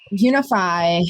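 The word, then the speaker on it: Younify: spelled funny i'll put it in the chat it's spelled y-o-u-n-i-f-y unify is a non-profit organization that works synergistically with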